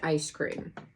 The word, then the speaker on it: Eyescream: 1 palette with code Eyescream. So if you want to go on there, it's EYESCREAM. Exactly like ice cream. Not ice cream, Eyescream. Just like the box is spelled, and you can get $10 off.